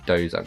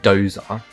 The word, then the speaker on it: dosa: So British people pronounce it dosa because they see it being spelled D-O-S-A. But it's not dosa.